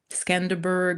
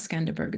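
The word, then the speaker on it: Skanderbeg: Scanderberg, it's not Scanderberg, it's Scanderbe, where there's the big horse and the the the hero of the country and all the cool buildings, that's fine.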